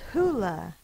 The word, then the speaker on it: hula: so it's hawaiian origin the word is hula sounded out and hawaiian the vowels always say the same thing and the you says because it's unstressed in the unstressed syllable so it says uh the next word has